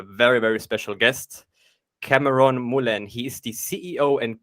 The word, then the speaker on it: Moulène: Well, I'm Cameron Moulène. Thank you for pronouncing my name right. Very few people do. It's usually Europeans who get it. It's a French name, right?